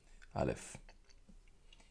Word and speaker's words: Aleph: This letter has no pronunciation by itself in Hebrew. The letter will take the sound of the vowel that is attached to the letter. If there is no vowel, the letter will be silent.